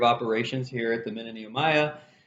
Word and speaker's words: Nehemiah: name comes from and i need to say it right i keep saying ma'am i am it's nehemiah get it right okay so um i